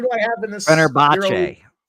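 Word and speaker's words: Fenerbahçe: Fenerbahce. Fenerbahce.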